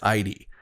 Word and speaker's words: Idie: Quentin also still has a thing for EDA. I think that's how you pronounce her name. I've also heard people pronounce her name as ID.